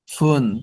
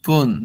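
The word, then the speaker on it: 分: ফুন এর উচ্চারণ, দেখেন এখানে বলা হচ্ছে ফুন এর উচ্চারণ নির্ভর করে সংখ্যা অনুযায়ী। যেমন ফুন কোন ক্ষেত্রে ব্যবহৃত হয়, 2 মিনিট, 5 মিনিট, 7 মিনিট, 9 মিনিটের ক্ষেত্রে ফুন। আর পুন কাদের ক্ষেত্রে, 1 minute, 3 minute, 4 minute, 6 minute, 8 minute, 10 মিনিটের পর পুন উচ্চারণ হবে।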